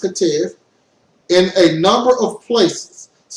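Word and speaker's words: Ketiv: The Masoretes modified the written text, Katev, pronounced Katev, in a number of places.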